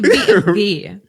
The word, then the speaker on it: BMW: the way the same the same goes for BMW B BM what BM what we say BMV it's BMV BMV BMV yeah that's so crazy yeah you just say BMV BMV because the V